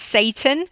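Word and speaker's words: Seyton: word, on the name Seaton. Some people say it's pronounced Satan, in which case there would be the obvious connotations of the devil and the devil working for Macbeth.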